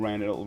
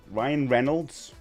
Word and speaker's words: Reynolds: Uh oh and not be to be a Ryan Reynold Rail Ryan Reynolds. That's the that's the way you say his name.